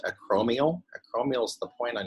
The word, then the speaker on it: acromial: This is pronounced acromial.